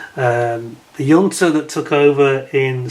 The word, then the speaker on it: junta: junta, I should say, the correct pronunciation, pronounce it with a, as if it was a Y. The junta that took over in